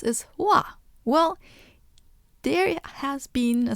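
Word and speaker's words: は: a particle right so that's why ha is pronounced wa but what do we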